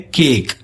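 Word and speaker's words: cake: इसे हम प्रोनाउंस कैसे करते हैं, इसे हम बोलते हैं केक।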